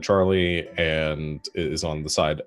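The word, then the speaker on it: Tjarle: like what uh yeah it's spelled t j a-r-l-e uh but it is pronounced charlie amazing um the uh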